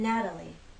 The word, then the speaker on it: Natalie: T Matilda we have the flap te in Natalie Natalie Matilda Natalie now why